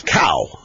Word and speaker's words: Cao: pronunciation of Mr. CAO's name, the rookie, the guy that replaced Congressman William Jefferson, Democrat, Louisiana, is Cow.